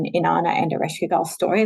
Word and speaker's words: Ereshkigal: Ereshkigal. Yeah. Ereshkigal. Yeah. I like to say her name in a really guttural kind of like Ereshkigal. kind of like, like coming out of like some deep cave somewhere and just kind of